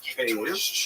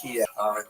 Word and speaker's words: Kyiv: That's the Ukrainian pronunciation, by the way. That's favored today because, of course, Ukrainian is the dominant language in the country, but it used to be called in English Kiev, which is closer to Russian pronunciation, because Russia dominated much